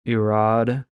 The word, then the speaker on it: Irad: And basically, that one, the R's in Hebrew, if you want to sound really authentic, make a French kind of R sound. So, Irad, if you want to pronounce it accurately, but just Irad would work.